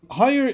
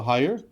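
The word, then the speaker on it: Haier: Hire is I don't know exactly how to say it, but it's HAIAR, so Hire.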